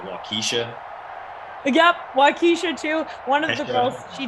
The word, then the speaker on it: Waukesha: So I remember I went on air and it's called Waukesha, right, Christian? Yeah. Waukesha.